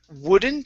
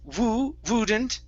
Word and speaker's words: wouldn't: Next is the word wouldn't here. Instead of wouldn't, it's w. Open your mouth up for that vowel.